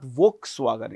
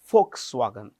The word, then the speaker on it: Volkswagen: This V is pronounced with an F. Remember this. It is not Volkswagen. It is Folkswagen.